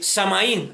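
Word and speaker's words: Samhain: Esa era la celebración y esa celebración tenía por nombre este samaín, algo así se pronunciaba como era de los druidas.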